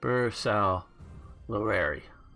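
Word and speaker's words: Bersaglieri: Bersalari. Okay, so we dropped the G.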